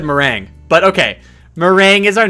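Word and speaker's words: Merengue: I know how I want to pronounce it, but I know it's completely incorrect. Little Noob says it's meringue.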